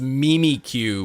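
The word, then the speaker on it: Mimikyu: oh man I can't believe that mimiku is pronounced Mimi Q what is that what is that horrible who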